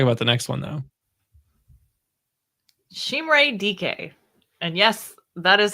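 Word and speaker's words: Chimere Dike: Chimere DK.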